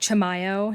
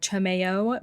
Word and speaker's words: Chimayo: amazing place it's called chamoo it's definitely pronounced Chimayo not chamoo please excuse my pronunciation